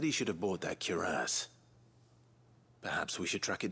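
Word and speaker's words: cuirass: I've always been calling it a curious. And it makes sense. That's exactly how it's spelled. Curass.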